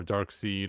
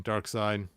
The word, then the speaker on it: Darkseid: at the time that dark siege came out or dark seed or dark side how do you say his name dark side and the reason why